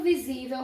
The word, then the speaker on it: visível: O vocábulo visível recebe acento por ser uma palavra proparoxítona. Será? Visível. A sílaba tônica é a penúltima, terminada em L.